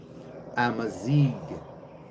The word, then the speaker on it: Amazigh: Amazig. No N, right? No N. Amazig.